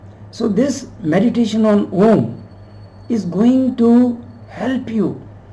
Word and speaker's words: Om: Now A, U, the sound of U, and M, Now in Sanskrit, the sounds A and U combined, they make the sound O.